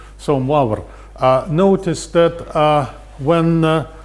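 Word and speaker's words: Moivre: and the name was moaber okay i i'm i'm not sure uh this is a good french pronunciation of this but well this is the best i can do so muar uh notice that uh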